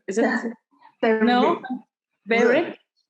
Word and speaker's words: Berwick: Berwick? Berwick.